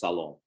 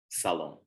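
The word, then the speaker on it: салом: And then the direct from Arabic salam is pronounced salom, salom. So you say hello, you say shalom, or you say salom.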